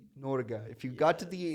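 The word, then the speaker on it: Norge: yeah the comments um you should say norga n how to spell that n o r g e go Norway n o r g e norga if you got to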